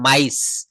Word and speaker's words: mice: যেমন এম আই সি ই, এই যে দেখেন আই প্লাস ই, বলছে MICE, এটা উচ্চারণ হবে মাইস, মিস না কিন্তু মাইস, RICE, এটা কিন্তু রিসি হবে না, এটা হবে রাইস, রাইস, ওয়াইজ, সাইজ।